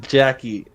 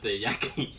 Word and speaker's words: Yaki: cleric, Is it pronounced Yaki or is it Jackie? Iyuki. No, Yaki.